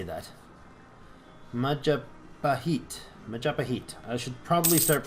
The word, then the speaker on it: Majapahit: Majapahit. Majapahit. I should probably start pronouncing it right because it's kind of weird to not do it.